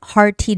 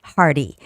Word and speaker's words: hearty: Oh, for this word you can also make the hard t sound. Hard tea dishes hard tea or the soft t sound hardy.